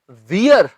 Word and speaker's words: wear: Will she, पहनने की English WEAR, ये है वेयर। इससे ये मत बोलना वियर, इट्स वेयर।